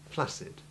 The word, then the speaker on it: flaccid: except that very occasionally double C before I or E can be so soft that it is pronounced just with the simple soft C sound, as in the word flaccid.